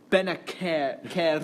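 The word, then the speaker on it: Bennacer: No, Harvey, it's pronounced Benacer, and you have to roll the R, so it's Benacer.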